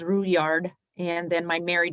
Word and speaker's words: Roulard: name is uh my maiden name is roulard uh my aunties corrected me and said it's the french indian uh pronunciation which is root yard and then my married